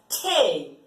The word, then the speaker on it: Tee: The spelling is the same, but you pronounce it as Tee.